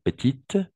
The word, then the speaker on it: petite: petite c'est féminin d'accord petite on va prononcer le thé et petit et oui comme ça de façon petit petit tout simplement si on doit faire la prononciation petit d'accord et petite avec le t à la fin OK et pas la